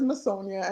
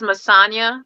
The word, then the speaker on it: Masna: you guys were close everyone says masonia and I just laugh every time oh it's masna masna mm okay y yep